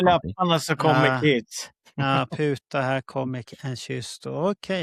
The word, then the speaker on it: puta: Vad bra att du uttalade det på det viset och inte så det blev putta. Nej. Putta mun. Puta, det står ju puta. Ja, man kan uttala det som putta också.